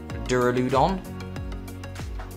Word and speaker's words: Duraludon: Here is the Duraludon.